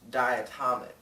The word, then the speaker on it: diatomic: that again diatomic molecules the correct pronunciation is diatomic oh and a very